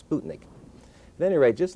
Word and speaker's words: Sputnik: And incidentally, it should be properly pronounced Sputnik and not Sputnik, as I tell my students.